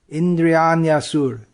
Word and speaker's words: Indriyanyasur: When the word is pronounced, when we read it word by word, it'll be Indriyani. But when it flows, it becomes one word. Indriyanyasur.